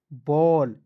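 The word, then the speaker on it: ball: किसी भी वर्ष के अंतिम में ए डबल एल दिखेगा इसका उच्चारण ऑल के रूप में करना है तो बी से तो ब होता है ना जी ए डबल एल का उच्चारण ऑल के रूप में करेंगे कि नहीं तो बी ए डबल एल क्या हो जाएगा बॉल क्लियर आइए उसके बाद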